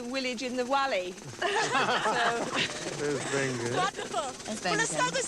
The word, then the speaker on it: Wengen: the funniest thing is we're all showing off here, pronouncing our W's as V's, but when the programme